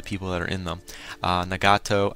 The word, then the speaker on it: Nagato: Nagato, I'm going to pronounce his name probably wrong all the time, because I know it's Nagito, but I always pronounce it wrong.